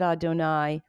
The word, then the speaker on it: Adonai: you do two little Ys Adonai and you pronounce it Adonai um and in the Torah scroll itself you